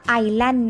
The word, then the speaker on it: Island: ส อ่าอันนี้นะคะอ่ะ อาสาฉันไป Learn in on the right อ่านว่า Islands นะคะไม่อร่อยอีสแลนด์นะไม่ต้องอ่านตัวเองนะคะไอร์แลนด์อ่ะเอามารวมกันนะคะอ้าลองดู in the stretches for Fire พันธุ์เรด